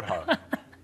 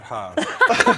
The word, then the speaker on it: hår: Han har stor hår. Can you just pronounce that last word? Han har stort hår.